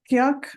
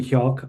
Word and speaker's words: Hyuk: Kyok, I'm not sure I'm saying that right. Yeah, that's right pronunciation of my name. It's a Korean name.